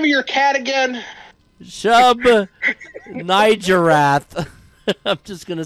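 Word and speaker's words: Shub-Niggurath: Fucked up thing is that it is actually pronounced the way you think it's pronounced, but a lot of people mispronounced it on purpose so they don't have to accidentally say the N-word.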